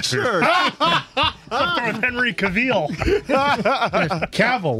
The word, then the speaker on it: Cavill: Cavill, like travel.